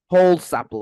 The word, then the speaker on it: Holsapple: be talking to Eric Hall Supple did I pronounce that right like whole sample whole sample okay whole sample all